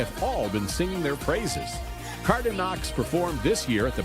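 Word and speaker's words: Cardinaux: family name which is Cardo which is French c a r d i n a u x but the American kids would often pronounce the silent X at the end cardox and we just thought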